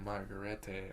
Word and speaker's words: Margarete: In Germany, under an alias, Lalo approaches Werner Ziegler's widow, Margarete, at a bar.